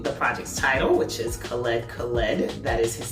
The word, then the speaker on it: Khaled Khaled: not only announcing the project's title which is khaled khaled that is his name and that's how it's pronounced and he also announced two drake collaborations